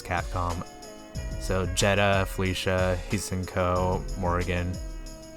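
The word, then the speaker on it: Hsien-Ko: Capcom so Jetta Felicia he's Cinco Morrigan it's Cinco yeah the H is silent beautiful Joe would just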